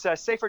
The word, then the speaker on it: safr.me: It's safer.